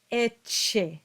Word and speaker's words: ecce: But how would you pronounce a double C as in this word? Well, in this case, you get eche, and it's the ch sound that dominates, and we don't do an extra C.